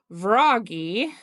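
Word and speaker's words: Vragi: She is married to Vraggy Vi V R A G I a child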